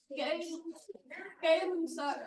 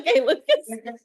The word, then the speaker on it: Gay-Lussac: What is Gay-Lussac law? Gay-Lussac's law. Yes, remember the guy in the video said it wrong and everybody giggled because it was like ridiculous.